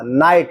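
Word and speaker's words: knight: ठीक है, GH और नाइट में के भी अनुच्चरित अर्थात साइलेंट है।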